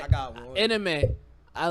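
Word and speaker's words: Aminé: How do you pronounce his name again? Anime. It's not anime. Because I want to call him anime. No, he did. It's anime.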